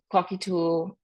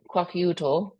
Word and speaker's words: Kwakiutl: But here in parentheses is the way to pronounce these names. So Tlingit, Tsimshian, Haida, Kwakiutl, Kwakiutl, and Salish, and then the Bella Coola.